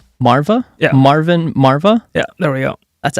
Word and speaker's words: Marwah: want to butcher your last name can you pronounce it for me please oh it's Marva Marva Marvin Marva yeah there we go that's actually super easy